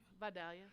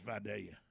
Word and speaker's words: Vidalia: that's how it's pronounced you say vidalia no it's vidalia like yeah yeah friday it's not my i